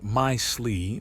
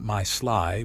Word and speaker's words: Mysli: "It's pronounced my slee, not my sly, but yes.